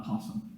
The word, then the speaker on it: opossum: america and south america it's all a possum at the beginning pronounced uh possum and uh this little